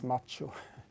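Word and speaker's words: Mach-O: Mac OS have the Macho I think it should be pronounced but I guess everyone says Machu um um so yeah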